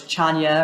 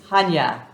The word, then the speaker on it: Chania: so a lot of people know it as chanya or chaniya or chanaya it's Hanya Hanya the sea is silent so we're in Hanya which is just